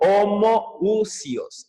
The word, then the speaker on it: homoousios: Y bueno, justamente se reconoció al Hijo de Dios no como homoiousos, sino como homoousios. Es diferente, estos términos griegos. Homoousios, perdón, se pronuncia ho.